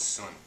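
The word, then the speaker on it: tsun: what we call in Chinese medicine a sun, T-S-U-N, pronounced sun, and it means body inch in Chinese.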